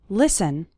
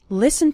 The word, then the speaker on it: listen: to an English podcast the letter T is silent in the word listen listen listen to an English podcast